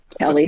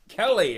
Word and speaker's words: Kele: So, I have with me Kelly Fleming. Kelly.